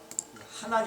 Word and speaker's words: 하난: 하난이 아니라 하난, 이렇게 강한 발음을 해요.